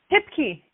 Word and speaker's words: Hipke: hey hello hi how do you say your last name tip key you got it what's right okay okay